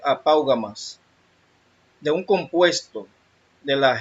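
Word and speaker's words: ἀπαύγασμα: Se pronuncia apaugamas.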